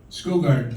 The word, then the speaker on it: Skogard: Is it Skov or Skov? Skogard, the B is silent.